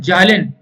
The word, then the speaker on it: Zahlen: जो symbol Z है, वो एक जर्मन वर्ड है जालिन। जालिन को कुछ लोग साइलेंट भी बोलते हैं, इसको अलग अलग तरीके से लोग प्रोनाउंसिएशन करते हैं।